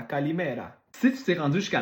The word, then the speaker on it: Kalimera: Puis finalement, en grec, Kalimera, Kalimera. Tu mets l'emphase sur l'avant-dernière syllabe. Kalimera, Kalimera.